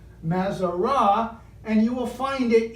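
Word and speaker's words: מזרות: We see not so much the zodiac, but the Mazarat, pronounced in Hebrew, Mazarah, and you will find it in Job 38.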